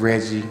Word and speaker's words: Reggie: I'm Reggie, also known as Chef Reggie, that rhymes with veggie.